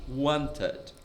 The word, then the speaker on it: wanted: O inglês também é uma língua que o final das palavras a gente não pronuncia muito como português. Por exemplo, a palavra procurado, buscado, wanted. Wanted, você meio que engole ali o finalzinho, né?